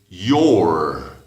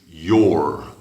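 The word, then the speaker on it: you're: You are, you suena como U, pero si haces la contracción dices your. Ahí sí la palabra you suena como con dos O's o algo. Your.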